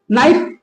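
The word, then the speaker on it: knife: तो यानी कि के बाद एन रहेगा तो हम के को प्राय साइलेंट करके ही बोलेंगे। ठीक है? जैसे के एन आई के एन आई एफ ई नाइफ।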